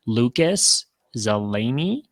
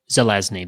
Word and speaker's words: Zelezny: Lucas Zeleny, I might have missed a few consonants there. How do you say it? Zelezny, there we go.